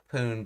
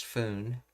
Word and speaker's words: 分: 分ぐらい, and it's pronounced as poon because of there's a 10 in front of it. Other times it'd be pronounced as foon.